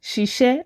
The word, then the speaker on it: ṣiṣẹ́: in a way, because if you try to say she, iṣẹ́, but 10 times faster, look at what you would arrive at. It becomes ṣiṣẹ́, right? So to make it easy for everybody, easy pronunciation, we go with ṣiṣẹ́, which is to work.